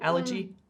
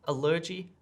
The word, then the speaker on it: allergy: allergy mean yeah because i've just changed the word stress there slightly right allergy allergy very different sound to my ears exactly i would